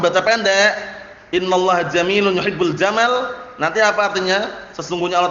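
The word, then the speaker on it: جمال: "Innallaha jamilun yuhibbul jamal." Ingat-ingat ya, jangan keliru bacanya ya. Ini tak ulang-ulang karena biasanya kalau orang belum terbiasa bacanya innallaha jamilun yuhibbul jamal, itu pendek. Namanya padahal pendek artinya lain nanti ya.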